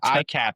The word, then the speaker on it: ICAHT: just for the audience, if you want to pronounce it correctly, imagine a cat holding an iPhone, that's the ICAHT.